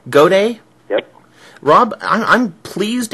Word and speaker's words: Gaudet: Rob how do you say your last name goday goday yep Rob I'm I'm pleased as snot to